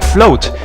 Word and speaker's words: FL0T: mean an O, because they want you to pronounce this stage's password like float, because they want you to float down here as Olaf.